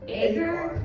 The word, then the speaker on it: Agur: Agur? Agur.